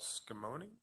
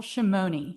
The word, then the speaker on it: Shimoni: candidate will be skimony how did i do okay tell me the right way shimoni shimoni but i will tell